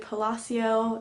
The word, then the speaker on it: Palacio: I finished this month is wonder by RJ Palacio that's actually how you pronounce her last name okay I made a